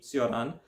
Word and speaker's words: Cioran: by julan Santa Cruz some of you might know this offer under a uh different pronunciation of his uh last name namely soran but really that is the uh Frank phone pronunciation not the original Romanian and given I am